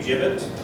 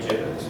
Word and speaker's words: gibbet: So in Genesee County, we used an implement called a gibbet, and that is the correct pronunciation. For a long time I said gibbet, but it's actually gibbet.